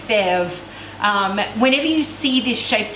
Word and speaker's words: fèves: All of their pieces look like this, and they call these fèves, is how they pronounce this. Again, terrible French accent, fèves.